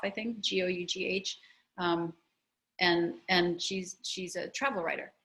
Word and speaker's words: Gough: Right now, I'm reading a Canadian author named Laurie, Laurie, Laurie Gough, it rhymes with cough, I think, Gough, and she's a travel writer, and wow, my mind is blown.